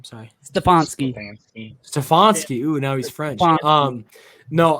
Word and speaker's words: Stefanski: Sorry, Stefanski.